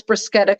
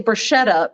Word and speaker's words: bruschetta: just tell your friends it's not actually pronounced bruschetta once a guy on a date actually like corrected me but it's like a k right like a yeah well there's not a k in the italian alphabet but it's ch but